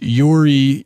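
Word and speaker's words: UREI: 76 is a universal audio SL Yuri it's spelled Ur EI 1176 compressor this is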